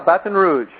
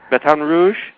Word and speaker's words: Baton Rouge: all that I know you are you're in Baton Rouge did I pronounce that right yeah Baton Rouge Baton Rouge that's how they say it Baton Rouge Baton